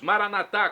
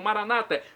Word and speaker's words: Maranatá: E agora eu clamo do aramaico, dialeto de Jesus, Maranatá, como dizemos nós católicos, ou Maranata, como dizem nossos irmãos separados, os evangélicos ou protestantes. Não importa a pronúncia, o significado é o mesmo.